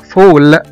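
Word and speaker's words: fall: مثلا كمان زي كلمة ball، B A L L، كرة، هنا نطقنا حرف الـ A كأنه حرف O، بول. مثلا كمان زي كلمة فول، F A L L، اللي هي يسقط أو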